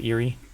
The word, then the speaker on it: Erie: elementum 3D Incorporated of IE Colorado is that Eerie yeah well it depends L Jamaica no it's